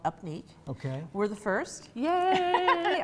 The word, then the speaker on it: UPNEEQ: It's called Upneat.